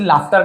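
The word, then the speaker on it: laughter: औरत हर्ड सुनी लाफ्टर इसे लाफ्टर कह और कुछ नहीं लॉटर वाटर कुछ नहीं बन लाफ्टर फ लाफ यानी हंसी देखिए स्पेलिंग ये रहता है बट प्रंसिएशन इसका लाफ्टर होता है एंजॉय उसने वहां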